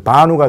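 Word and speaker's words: בָּנוּ: 베누가 되는데 베누라고 하지 않고 발음을 앞에 베가 마가 되는 거예요. 그래서 바누가 돼요.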